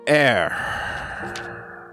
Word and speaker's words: heir: About your heir. With a silent H, I guess.